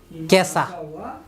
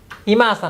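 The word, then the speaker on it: 今朝: তারপরে এটা হচ্ছে যে আজ, এখনকার কাঞ্জি ইমা, এরপরে এটা হচ্ছে আসার কাঞ্জি, তার মানে আজকের সকাল, কেসা। ইমা আসা না, এটা পুরো একসাথে দুইটা হবে কি কেসা।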